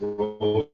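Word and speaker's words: Rómen: So north is Foreman, east is Rowan with a accent on the O, west is Newman with an accent on the U, and south is Yarmouth.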